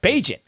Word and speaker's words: Bagent: Bagent was just turnover after turnover after turnover.